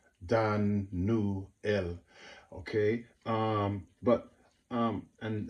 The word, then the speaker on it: Daniel: Daniel is one thing which is not even said correctly it should be Dan newel it should be three syllables Dan new L okay um but um